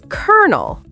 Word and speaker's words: colonel: Spelled C-O-L-O-N-E-L, but pronounced kernel, like the popcorn part.